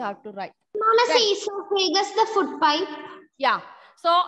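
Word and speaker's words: oesophagus: Even it is the spelling is O, but your pronunciation is, spelling is there, but your pronunciation is esophagus.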